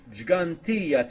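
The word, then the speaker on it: Ggantija: incorrect apologies for that it's the gigantea temples not the way they say it anyway I tried to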